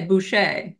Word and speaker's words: Boucher: I all good Prosper it's B CH it's actually French so you could say bsh B fantastic ah right